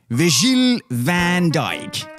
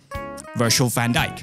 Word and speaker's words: van Dijk: I should have known that he is not Virgil van Dijk, but instead, Virgil van Dijk.